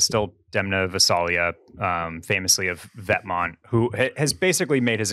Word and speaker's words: Vetements: Look, I think the creative director of Balenciaga is still Demna Gvasalia, famously of Vetements, who has basically made his entire career. Pronounced Vetements.